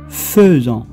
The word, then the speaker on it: faisant: On écrit faisant, AI, mais on le prononce faisant.